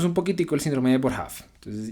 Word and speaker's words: Boerhaave: Que creo que se pronuncia Boerhaave, si no estoy mal.